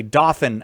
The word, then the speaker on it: Dothan: It's Dothan, Alabama. I'm Oh. a little bit hard of hearing, but I'll try my best. Oh, so you're doing fine. All right. Dothan, Alabama.